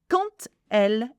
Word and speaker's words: quand: Now, quand elle est stressée. Now, the quand has a D at the end, but we don't pronounce the D, we pronounce it T.